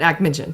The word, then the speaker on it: Akhmetshin: So not Sechin, but Akhmetshin.